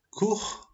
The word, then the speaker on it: court: On a aussi la combinación OU qui se pronuncia como U y on a l'exemple court. Tenemos la combinación OU que se pronuncia como una U y el ejemplo es court.